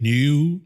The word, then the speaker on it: NIU: It's not NIO. NIU.